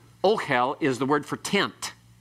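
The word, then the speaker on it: אֹהֶל: Okay, ohel. Ohel is, and notice the accent has to be on the O part there. Don't say it the other way. You'll sound like you're swearing. All right. Ohel is the word for tent.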